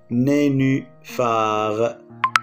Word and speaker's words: nénuphar: On a nénuphar, nénuphar, PH qui se prononce F.